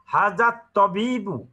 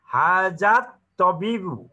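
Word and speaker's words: هذا الطبيب: হা যে আল আছে, আল থাকলেও আলের লামের উচ্চারণ হবে না যেহেতু এটা হরফ শামসিয়া, হাজাত তবিবু মিনাল হিন্দি, এই এই এই ডাক্তার সাহেব হিন্দুস্থান থেকে এসেছেন।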